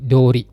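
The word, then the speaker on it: 通り: Cuman kalau dia nempel dengan kata benda cara bacanya menjadi dori.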